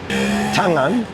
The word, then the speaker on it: tangan: Tangan is only got one G. So, NG only, it's a soft G. Tangan, like the word sing.